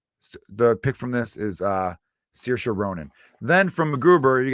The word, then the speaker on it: Saoirse: Or is it Saoirse? There's 2 different ways to pronounce that name. I'm going to say it the way my cousin's daughter's name is pronounced, and that is Saoirse Ronan, great actress.